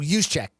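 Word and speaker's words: Juszczyk: Oh, use check.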